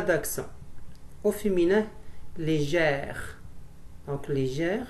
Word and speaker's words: légère: Donc légère, c'est un E ouvert, donc on met un accent grave, un accent grave.